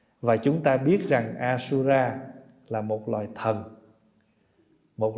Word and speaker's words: asura: Bồ Tát a la tiếng Phạn đọc là asura cho nên mình chỉ